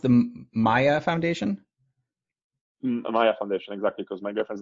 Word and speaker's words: Maya: So is it pronounced the Maya Foundation? Maya Foundation, exactly, because my girlfriend's name is Jaritza, Marek, so it's like Maya, it's like cute.